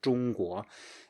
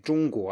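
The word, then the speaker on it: 中国: If you say 中 high, and then you start saying the 国 at the same height as you ended the 中, then you will have like a 中国, and you have no space left to go up because you're kind of already at the top of your pitch range, right?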